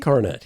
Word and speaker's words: Coronet: Is that how you pronounce it? Coronet? Coronet, yes, that's right.